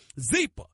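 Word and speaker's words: Zyppah: Zeepa is pronounced Zeepa. It's spelled Z-Y-P-P-A-H. It's easy to remember because Zeepa is happy Z spelled backwards.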